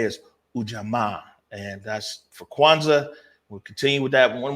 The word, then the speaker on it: Kwanzaa: that before we get everything going though it's kwanzaa and today that's how you say it over